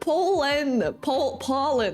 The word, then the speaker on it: Poland: I was talking about Poland. Poland. That's how you pronounce it.